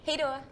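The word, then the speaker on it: hej då: like how do you say bye in Swedish hey Dora hey Dora okay so I'm Sophia this is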